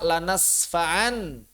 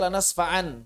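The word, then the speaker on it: لنسفعا: Jadi ketika wakaf dibaca lanasfa'an, tidak.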